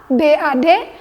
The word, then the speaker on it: bad: Kalau kata buruk, kita akan menemui rumus EY dalam phonetic symbol. Jadi membacanya sedikit agak lebay memang.